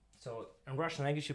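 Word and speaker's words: С: So C letter in English, but in Russian, actually, it will be pronounced as S. S. So you're gonna say S, S.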